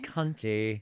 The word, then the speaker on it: Conti: He It's reminded me pronounced cunty.